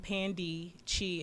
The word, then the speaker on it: Pandee Chi: it different than me it's pandey cheese pandishi like panda but pandy chi as in find your cheese did i did i